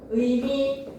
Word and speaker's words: 의미: 줄 의사 의자 의미 이런 단어들은 어떻게 해야 돼 무조건 의로 발음해야 돼 처절의 의를 누가 이사라고 합니까 누가 처절의 의를 이자라고 발음합니까 누가 의미를 이미라고 발언합니까 절대 안 되죠. 그죠? 첫 음절의 의는 무조건 이중의 의로 발음을 하대.